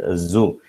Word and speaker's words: zoo: But unfortunately we pronounce it as S. അപ്പോൾ അതുകൊണ്ട് നമ്മൾ സു കാണാൻ പോയി എന്ന് പറയും. But actually it is zoo.